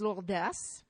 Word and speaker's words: Lourdes: In Occitan, it is Lourdes. Yeah. Which means that, of course, in Occitan, they do pronounce the final S's, which they don't in French.